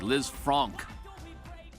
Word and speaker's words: Lisfranc: it right is it Liz Frank or is it Liz Fran oh Liz Fran well the the guy who termed the injury was French so you know it could